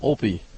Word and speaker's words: Olpe: wall earlier that's right I did get a pronunciation lesson from Eric McCabe earlier in the weekend so Opie Opie Opie is the correct one great shot there by